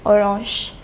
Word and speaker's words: orange: Une orange, so it is the same in French as well. The pronunciation alone varies. Orange.